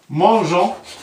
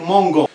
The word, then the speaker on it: mangeons: On a ajouté un E pour prononcer le G, pour dire mangeons. Si on n'a pas de E, on va dire mangon.